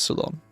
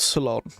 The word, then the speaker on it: Ceylon: what ceylon is i keep pretty i always pronounce it terribly salon yes it is salon good old salon now i have a book speaking of being